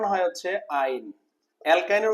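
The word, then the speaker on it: yne: সি এ2 এ মাইনাসট এর উচ্চারণ হয় হচ্ছে আইন অ্যালকাইনের উচ্চারণ কি আইন হয় অ্যালকাইনের উচ্চারণ কি বলতো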